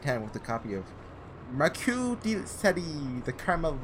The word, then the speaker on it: Marquis: need the good old, is that just Marquis? I think the S is silent.